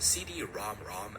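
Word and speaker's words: CD-ROM²: Because real magic came a year later when a PC engine received a CD ROM ROM add-on. Yes, that's actually how you say it.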